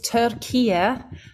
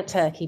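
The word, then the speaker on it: Türkiye: Bal and everybody listening it's turkia no longer turkey please Tura okay wait am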